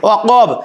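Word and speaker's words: وقب: এই যে ওয়াকাব, কফের উচ্চারণটা সুন্দর করে, ওয়াকাব, ওয়া মিন শাররি গাসিকিন ইযা ওয়াকাব ওয়া মিন শাররিন নাফা নাফাসাতি ফিল উকাদ, এই আইন দিয়ে বলতে হবে উকাদ।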